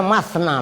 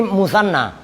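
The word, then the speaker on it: مثنى: enggak saya harakatin entar kalian bacanya matna lagi persis tulisannya tapi ini mutsanna coba ini tasniah ya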